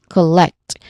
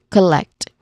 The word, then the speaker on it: collect: So we try we try to pronounce this word as collect with emphasizing on the second syllable collect.